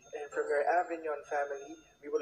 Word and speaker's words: Avignon: i guess from the avignon family i even got the exp now avignon it's not a big neon it's a silent g and you realize and